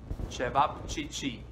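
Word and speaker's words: ćevapčići: you think what yeah this is how you spell it and this is i know a tongue breaker try to say chevap chichi and this is how they made served and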